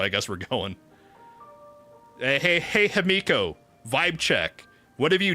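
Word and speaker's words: Himeko: Look, you have to say Himiko's name right. It's pronounced Himiko. You gotta draw out that E. Just like March showed us.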